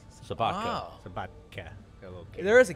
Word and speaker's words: Sobotka: Is that how you pronounce it? Yeah, Sobotka. Sobotka.